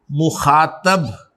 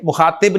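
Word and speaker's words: मुख़ातब: 2nd person pronouns को अरबी में, फारसी में और उर्दू में हाजिर या मुखातब कहा जाता है। ठीक है, मुखातिब नहीं, मुखातब। फर्क फैसलाबाद और लाहौर का है।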